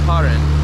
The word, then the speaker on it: Karen: But who comes up here to the Myanmar-Thailand border to experience the Long Neck tribe, which is, I haven't even mentioned, pronounced Karen tribe, which is spelled like Karen, K-A-R-E-N, but they don't have the same vibe as the Karens in the US.